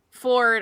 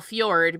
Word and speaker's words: Fjord: But Ford, I call Fjord because that's the way that it's spelled.